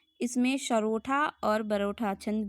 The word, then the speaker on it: सोरठा: बीच बीच में इसमें सरोठा और बरोठा छंद भी मतलब देखने को मिलता है, यूज़ किया गया है। सरोठा सोठा सॉरी सोरठा, ठीक है, मिस प्रोनाउंसिएशन हो रहा है।